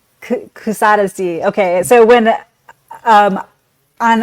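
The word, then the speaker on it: Kuşadası: So I I call this city Kusadasi which I've probably completely pronounced incorrectly Kusadesi.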